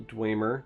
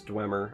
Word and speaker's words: Dwemer: it is a neutral Dwemer Dwemer gleamer i never say it correctly I'm pretty sure it's Dwemer I have had enough